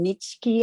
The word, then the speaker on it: Nietzsche: And he spent 3 hours in the basement looking for what's his name, Nietzsche. How do you pronounce it? Nietzsche, right? Nietzsche.